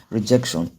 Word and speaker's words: rejection: Same goes for commission and the third one, which is rejection. So if you count from the back of the word, it is the second syllable from the end of that word.